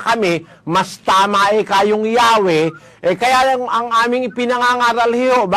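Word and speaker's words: Yahweh: Sabi po nila, while inclining to view the pronunciation Yahwe as the more correct way, we have retained the form Jehovah because of people's familiarity with it since the 14th century.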